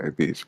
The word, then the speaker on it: Beej: Beej, Beej is your name? Is that correct? Is that how you say it? Yeah, that's how to say it. Yeah. Okay, Beej.